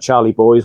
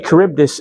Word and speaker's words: Charybdis: I know how to say it now because I was calling it Charlie Boys, whatever it calls. But actually, Charybdis is a fictitious sea monster.